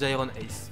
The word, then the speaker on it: GyronAce: Ça se prononce Iron Ace.